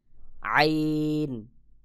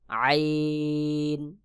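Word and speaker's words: عين: উচ্চারণ হবে যেমন তারপর আইন হলক অর্থাৎ কণ্ঠনালীর মধ্যখান হইতে গলার মধ্যখান হইতে আইন উচ্চারণ হবে যেমন আইন আইন আইন তারপর রয়েছে গাইন হলকের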